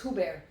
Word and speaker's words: Hubert: By the way, Casper, thanks for the pronunciation. All right. Hubert. It's Hubert.